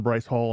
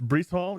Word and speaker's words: Breece: home here in Wichita it's Breece Hall you're right I've mispronounced it I mean for the